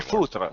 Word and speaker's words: foutre: saying it is, but it's va te faire faute. I can't do the It's go pronunciation. fuck yourself. Oh, okay. Thank you. Faire faute. I can't Va do te it. I used faire to be able to- foutre.